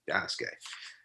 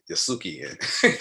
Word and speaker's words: Yasuke: salmon we actually existed yasuke and at that time you know that's when i was jacking and i was calling yasuki you know everybody feels like you don't know correct pronunciation you jack it up but uh yeah